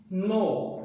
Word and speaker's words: know: next है hold, HOLD hold means पकड़ना, hold means पकड़ना, hold held holding, नो KNOW नो, इसमें के साइलेंट रहेगा, नो मीन्स जानना, नो